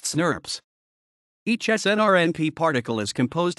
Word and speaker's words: snRNP: snRNA are always associated with a set of specific proteins, and the complexes are referred to as small nuclear ribonucleoproteins, snRNP, often pronounced snurps.